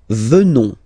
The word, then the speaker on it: venons: Nous venons. Okay? O-N-S, classical ending for nous. Okay? Final S not pronounced. So O-N, on, venons, venons.